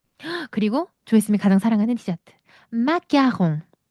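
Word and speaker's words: marron: 농 그리고 조심스 가장 사랑하는 디저트 마롱. 자, 이때 여러분 이거 왜 맞아롱이라고 할까요? 어, 선생님 아는 아까하면서요. 마가홍 이렇게 해야 되는 거 아닌가요?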